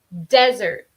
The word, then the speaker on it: desert: Si es un sustantivo, vamos a poner más estrés en la primera sílaba de la palabra, Okay, I'm going to repeat that one more time.